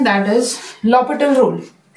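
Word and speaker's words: L'Hôpital: H silent इसमें लॉपिटल rule. लॉपिटल rule is very very important as फॉर as your competition exams are concerned. H silent रहता है इसमें, हॉस्पिटल नहीं बोलते, लॉपिटल rule बोलते हैं इसको, ठीक है.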